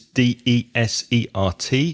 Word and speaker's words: desert: the first syllable desert desert has the stress on the second syllable so you're positive it